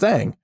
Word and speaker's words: Aang: It's pronounced Aang.